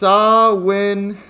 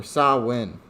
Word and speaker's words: Samhain: to present some so we have samhain or pronounced sawwin is an irish festival that marks the end